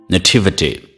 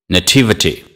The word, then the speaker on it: nativity: Nativity nativity native to Nativity the stress falls on the second syllable repeat after me nativity